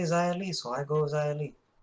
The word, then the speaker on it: Xia Li: So apparently an X now equals a Z. When they say Xia Li, so I go Xia Li. But anyways, these two will battle at Sunday. Yeah, so Xia Li attacked Mercedes Martinez, but